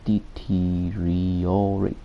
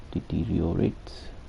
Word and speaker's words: deteriorate: the theoretical echoes detriorate is too fake pronounce neither okay neither that's pronounced neither perfects deteriorates pronounced deteriorate oh that's pronounced deteriorate can you repeat please